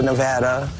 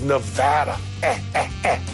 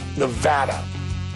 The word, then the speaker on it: Nevada: People mispronounce our state name all the time. You get the Nevada. That is like potato or patata. It's kind of like tomato and tomato. It is Nevada. Nevada.